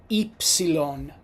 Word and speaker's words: ipsilon: Now the letter Y in Italian is pronounced ipsilon.